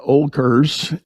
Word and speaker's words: Oelkers: about my guest is a gentleman named olkers and did I pronounce that last name correctly yes yes you